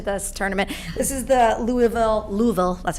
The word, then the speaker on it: Louisville: This is the Louisville, that's how you say it, Louisville t-shirt.